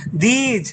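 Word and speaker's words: these: না, এইগুলা বুঝাইতে দিজ হয়, দর্শিকার বর্গীয় জ, দিজ। আর এটার উচ্চারণ হচ্ছে দিস, দর্শিকার দন্তস্ব দিস, আর এটা হচ্ছে উচ্চারণ হচ্ছে দিজ, দর্শিকার বর্গীয় জ।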